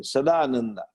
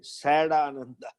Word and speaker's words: Sadananda: have the some Swami, Sadananda. So Sad you write Sadananda, Ananda. So one Westerner read it, Sad Ananda. Oh, you are sad and Ananda. So sad happiness, you know. That doesn't work, Sadananda.